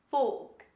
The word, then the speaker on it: folk: we don't say folk or faults the correct pronunciation is folk folk say with me folk the next word